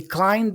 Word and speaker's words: climb: another part here he climbed the stairs okay he climbed the stairs remember that the pronunciation here guys is climb okay we don't pronounce the b the B is silent so I don't say